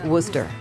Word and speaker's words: Worcester: of the branch yes the ship's name is pronounced Worcester take command and show what these twelve guns